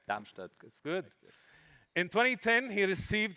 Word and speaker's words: Darmstadt: Pronounce it correct? Darmstadt.